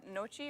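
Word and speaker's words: gnocchi: yeah what is uh what's the other uh nochi or nachi or whatever you know yeah it's spelled with g no key yeah yeah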